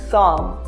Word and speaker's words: psalm: P is sometimes not pronounced when it is in a combination of PS, PT or PN. For example, pneumonia or psalm.